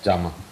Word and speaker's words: Giamma: Is that the correct way to pronounce her name? Yes, yes, Giamma.